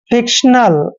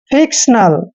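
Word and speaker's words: fictional: एन ए एल देखिए एफ का उच्चारण दोस्तों फ करते हैं आई को छोटी ई की मात्रा पढ़ते हैं और शी का उच्चारण हमेशा क करते हैं और टी आई ओ एन को शन पढ़ते हैं ऐसे सन और देखिए दोस्तों ए एल का उच्चारण ले करेंगे फिक्शनल क्या पढ़ेंगे फिक्शनल फिक्शनल होता है दोस्तों काल्पनिक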